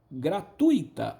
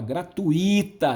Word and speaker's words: gratuita: na inteirinho inteirinho inteirinho a palavra gratuito poucos pronunciam essa palavra corretamente olha a entrada gratuita é tui-tui gratuita a maioria fala gratuita gratuita e eu designo eu